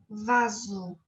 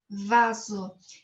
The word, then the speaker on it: vaso: aceita em português Laércio quando está entre vocalis lá pronunciamos como se foram na zepa vaso vaso e lá ouvir no